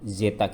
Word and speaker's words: zeta: Vektor vortisitas kita biasanya menuliskan dalam bentuk zeta ya, itu lambang zeta seperti C itu zeta kita membacanya.